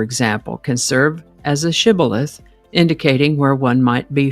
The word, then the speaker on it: shibboleth: The Gileadites pronounced the word with the SH sound, shibboleth, but the Ephraimites pronounced it sibboleth without the SH sound.